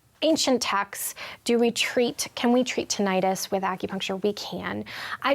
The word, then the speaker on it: tinnitus: Okay, so tinnitus can come from many... I said it wrong. Tinnitus. Tinnitus, yeah. Tinnitus, okay.